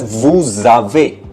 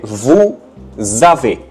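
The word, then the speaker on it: vous avez: But when they are pronounced together it is pronounced as vu zave. Okay. Vu zave. Even though before a there was not z. It was actually after vu right s was after vu but because of the leazison rule what happened is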